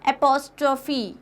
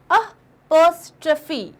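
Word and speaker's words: apostrophe: Next is this, it इज नॉट एपोस्ट्रोफी, इट्स नॉट एपोस्ट्रोफी, इट इज अपोस्ट्रोफी, अपोस्ट्रोफी, अपोस्ट्रोफी।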